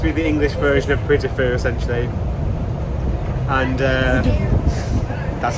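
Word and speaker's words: Puy du Fou: This is meant to be the English version of Puy de Fou, essentially.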